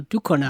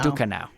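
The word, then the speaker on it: Ducournau: I suck at pronouncing things. But, uh, Julia Dor. Yeah. See, it's uh, Dukano. Dukano.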